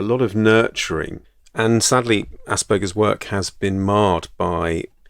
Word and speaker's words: Asperger: mention Dr Hans Asperger actually I mispronounce it as Asperger but it's actually Asperger I think an Austrian doctor Asperger's